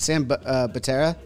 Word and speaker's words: Butera: So this, and correct me if I'm wrong on the pronunciation, is it Sam Butera? Butera. Butera. Like butane. Yeah, butane.